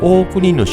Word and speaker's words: 大国: ね神社である大国主の命こちらは大国と読みますよねこの大国と大国主